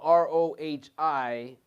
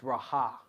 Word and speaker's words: Rohi: It's spelled R-O-H-I. I thought it was pronounced Rohi or Rahi, but it's Raha.